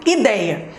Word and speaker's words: ideia: Ideia. Como é que eu separo? I-dei-a. Sílaba mais forte, dei. Dei é a penúltima sílaba, ou seja, paroxítona.